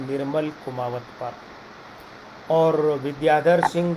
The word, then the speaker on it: विद्याधर: ये अंग्रेजी में इनका नाम जो लिखा जाता है उसका उच्चारण होता है विद्याधर।